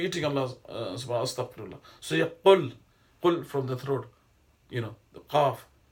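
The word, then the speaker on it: قل: So you qul from the throat, the qaf, qainchi.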